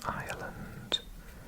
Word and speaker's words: Ireland: would say Ireland but we don't pronounce the r the Irish separated then